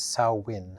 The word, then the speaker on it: Samhain: I think the Gaelic way to pronounce it is Samhain.